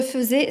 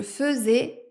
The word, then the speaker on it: faisais: quand j'étais petite je faisais souvent des crêpes faisais a i s a I ait et c'est quoi ce a I qui se prononce e dans fait aujourd'hui je